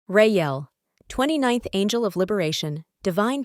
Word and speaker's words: Reiyel: Name: Reiyel, pronounced Reiyel.